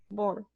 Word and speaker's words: Bohr: Bohr, se pronuncia de esa forma. Bohr.